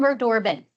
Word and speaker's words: Unverdorben: great ice breaker can you U Can you pronounce it properly yes I'm we dorbin I did close I was close you were